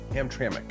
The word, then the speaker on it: Hamtramck: Is that how that's pronounced? Hamtramck. Hamtramck.